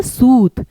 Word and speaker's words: सूत: जैसे कि मैंने आपको कहा उच्चारण ये है सूत और ये है सुत। यहां पे हमने ऊ को लंबा बोला सूत। और यहां पे जल्दी बोला सूत। अब ये छोटा ऊ है। यह बड़ा ऊ है।